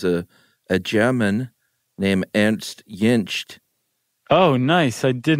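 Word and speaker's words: Jentsch: name should be pronounced yinch it's good stuff I think I put a t on the end but the t's in the middle yinch yeah I think that's right I've been saying jench well we'll have to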